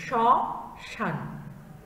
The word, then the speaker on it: শ্মশান: শব্দের প্রথমে যদি ম ফলা থাকে তাহলে সেটির উচ্চারণে একটু ঝোঁক পড়বে এবং নাসিক্য একটা স্বরের মানে নাকের ভেতরে বা আনুনাসিকভাবে উচ্চারণ করতে হবে, যেমন শ্মশান বা স্মরণ, ঠিক আছে। এই শব্দগুলো দেখো স্বয়ের সাথে ম আছে, এটি একটু চাপ দিয়ে উচ্চারণ করতে হবে এবং এর উপরে থাকবে চন্দ্রবিন্দু শ্মশান। দুই নম্বর নিয়মে বলা হয়েছে